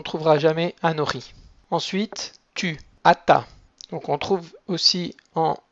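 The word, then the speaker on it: אתה: Donc c'est un tav qui est fort, atta. Et pour la forme féminine, on va pas du tout le prononcer parce qu'il y a un sheva en dessous du tav. Donc on dira juste at. Atta pour le masculin, at pour le féminin.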